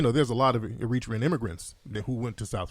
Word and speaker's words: Eritrea: from Eritrea yeah yeah how do you pronounce it is in Eritrea our reach Eritrea is it's like however you somebody either one I was having this